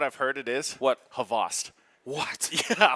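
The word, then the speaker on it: Xboct: like that, with it's X-Bot. I've heard differently. It's okay. But I know most people, when they see it for the first time, X-Bot, yeah. like that's how they say it.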